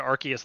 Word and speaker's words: Arceus: bulbapedia oh my god it's arusias arusu that is how i was saying it before i thought there was something about like during a major trailer or something they said arceus though and that's why the argument